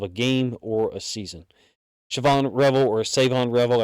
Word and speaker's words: Shavon: Shavon Revel or Shavon Revel, I guess the H is silent.